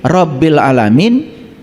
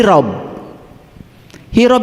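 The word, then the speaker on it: رب العالمين: Oleh karena itu, cara membacanya harus benar. Alhamdulillahi rabbil alamin, itu membacanya harus benar. Karena selama ini kita membacanya alhamdulillahi rabb. Hirob itu perang.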